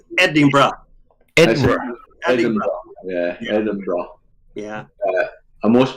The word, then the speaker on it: Edinburgh: my daughter that you have to sp to pronounce the eddie barrow edwin it's edinburgh yeah yeah yeah and most people say adam boro yeah he said he brought him edinburgh yeah